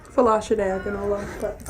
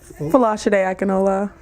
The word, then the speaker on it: Fola Akinola: Fola Akinola. All right, let's do that one. Fola Akinola. Very good. I'm glad you can pronounce it.